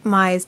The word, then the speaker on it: Mei: mei no it it if you're pronouncing it like japanese it would be my what just making sure uh may would be m-e-i got it in a